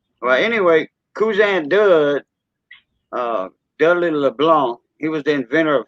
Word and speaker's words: LeBlanc: We don't call him Dudley LeBlanc. Like LeBlanc, the C is silent in LeBlanc.